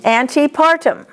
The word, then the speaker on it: antepartum: When you see an ANTE, you need to pronounce it anti. Anteflexion. Say it. Antepartum.